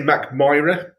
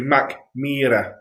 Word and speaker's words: Mackmyra: double e so it'd be mac mira if you do it like meerkat yeah listen can we